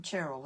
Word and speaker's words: Cheryl: you for joining me are you Cheryl or cherl I'm I'm cherl and my mother used